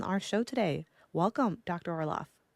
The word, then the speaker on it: Orloff: Orlof. Thank you. I'm so happy to be here. And am I pronouncing that right? Is it Orlof?